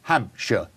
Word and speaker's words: Hampshire: is say Hampshire notice notice I said sure at the end in the UK we pronounce it sure so it's Hampshire okay Dorset sure not